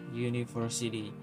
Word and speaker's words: university: to study in a University uh itu kan vokal tapi dibaca hiu maka tetap dikaji tambahkan